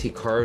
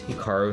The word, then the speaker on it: Hikaru: pronounce Hikaru nak now even myself when I pronounce my name it's definitely more Americanized versus Japanese certainly I was pronouncing it correctly it would be more like Hikaru as opposed to Hikaru but I've spent so much of my life here in America that that that's just how I pronounce and everyone does the